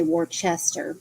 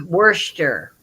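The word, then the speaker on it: Worcester: warer I always say Worchester it's Worster Worster Worster yeah I always say it wrong Worster I did for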